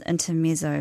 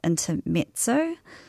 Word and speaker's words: Intermezzo: And so, yeah, I picked up what I thought was pronounced intermezzo, but it's actually pronounced intermezzo.